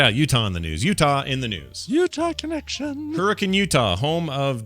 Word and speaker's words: Utah: Utah connection.